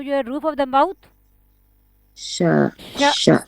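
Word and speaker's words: ش: The letter sheen is pronounced when the middle part of your tongue come in contact with what lie opposite to it from the roof of the mouth.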